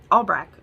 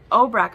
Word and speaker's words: Obrecht: danger to her and obrecht albrecht albrecht uh obrecht sorry i always say his name wrong obrecht ivanov happens to out